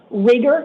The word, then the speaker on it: Rieger: Rieger is how it's pronounced?